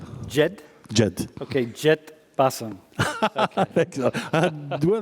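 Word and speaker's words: جد: Jed. Jed?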